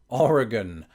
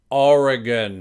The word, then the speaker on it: Oregon: video I always pronounce it Oregon Oregon R again I'm just repeating it until you convinced now call me crazy